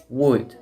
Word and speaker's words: would: en lugar de eso, la manera correcta de pronunciarlo es would. Fíjense, es como si no existiera ni la O ni la L.